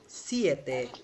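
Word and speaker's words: siete: আরেকটা হচ্ছে কি বলেন তো, সিয়েতে মানে কি তোমরা সিএতে। হও, হই সিয়েতে, Oh, তোমরা হও। সিয়েতে। আরেকটা হচ্ছে সেতে। ওকে, খুব কমপ্লিকেটেড। একটা হচ্ছে সেতে মানে তৃষ্ণার্ত, আরেকটা হচ্ছে সিয়েতে, আরেকটা হচ্ছে সেতে মানে সাত।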